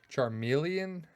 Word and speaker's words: Charmeleon: Charmeleon. Like a chameleon.